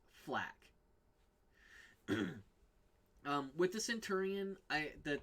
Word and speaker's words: FL4K: from fur for flak it's pronounced flak with the Centurion eye